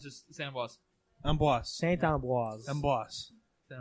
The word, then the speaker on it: Saint Ambroise: No, it's just Saint Ambroise. Amboise. Saint Ambroise. Amboise. Saint Ambroise. So all right, so Sorry. I've been learning this weekend that you don't roll your R's in French.